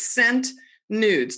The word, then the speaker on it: Sent Nudes: It's the word scent, but it's spelled S with a space and then E-N-T. So where the C would be, there is a blank space. So it's Scent Nudes.